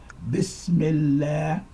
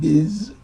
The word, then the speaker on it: bismillah: and permissible so anyway you start bismillah not biz this bismillah here rah mispronounced a great